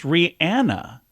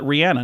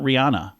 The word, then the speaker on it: Rihanna: It's Rihanna. She pronounces it Rihanna, not Rihanna.